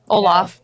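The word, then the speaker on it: Olfa: favorite um Ola cutter Olaf Olaf I it's Ola I know I call it Olaf from the snow man was I saying it wrong and Steve did this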